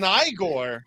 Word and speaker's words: Igor: and Bob, I shall pick none other than Igore.